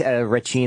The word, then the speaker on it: Racine: Yeah, it's Racine. It's the Italian pronunciation.